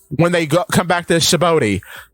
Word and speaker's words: Sabaody: And Frankie says, when they come back to Sabaody, I keep pronouncing it wrong. Sabaody.